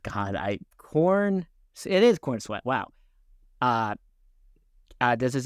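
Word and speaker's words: Corenswet: God, I'm going to say his name wrong all the time. David god I corn it is corn sweat.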